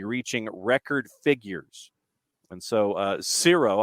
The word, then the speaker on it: Xero: And so Zero, I guess is how you pronounce it with an X, like zero with an X, like Xerox.